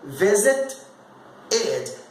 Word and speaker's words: visited: Quando eu falar no passado, é visit id. Esse id, o ED que eu falar, ele vai acrescentar mais uma sílaba no passado.